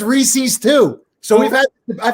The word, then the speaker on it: Reese's: are reese's so like even though they're pronounced reeses everybody in pennsylvania says reese's i'm from georgia and